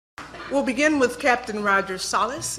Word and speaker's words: Salas: We'll begin with Captain Roger Sallas. Am I pronouncing that right, sir? Salas is correct.